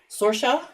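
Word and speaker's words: Sorcha: spell that s-o-r-c-h-a sorcia oh you're not spelling it the Irish way well no that was our joke Anna loved all the Irish names but you can't pronounce them and spell them so sorsha it sounds just like it looks um and then because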